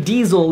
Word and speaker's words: Diesel: So, Diesel, to pronounce it, it's like D, like diesel, E, like hey, Zel, like zealot.